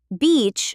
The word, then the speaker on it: beach: Beach has a long e sound. Beach like the word c or tree. beach. The other word which we are not going to say has a short i sound like sit or bit. So the difference is the length and quality of that vowel.